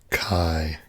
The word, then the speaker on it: Ki: I'm embarrassed to say I don't know how you want the K-I pronounced. So if you can help me out with that, then I'll be happy to call you whatever you like. You give me a pronouncer or a phonetic description of K-I, and I will do that. But Mackenzie, I definitely know how to do that. J Crispy Gaming, welcome. Kai, okay, got it.